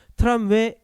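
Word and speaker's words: tramway: 트람웨 에그지스트 트람웨라고 발음해요.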